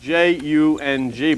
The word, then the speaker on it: Jung: Carl Jung was an eminent psychoanalyst, and actually his name is spelled J-U-N-G, but pronounced Jung.